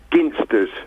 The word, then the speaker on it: Ginsters: Well, being a Cornishman, it's Ginsters. Hard G.